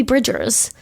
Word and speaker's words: Bridgers: describe what who Phoebe Bridges is you're also saying her name wrong Phoebe Bridgers okay and who exactly what